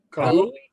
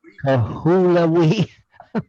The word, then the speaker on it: Kahului: Now, the next one we're going to go to is, can you pronounce that one? Hold it still for a minute. Kahului. Kahului.